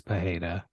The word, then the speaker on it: Pereira: It does raise an interesting question for, I guess it's actually pronounced Alex Pajeda, not Alex.